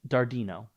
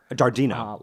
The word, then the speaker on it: Dardeno: How do you pronounce your last name? Dardeno. Dardeno.